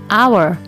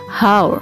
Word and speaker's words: hour: Ipun bertuliskan huruf H karena pengucapannya adalah our bukan hours Hai Edition atau tambahan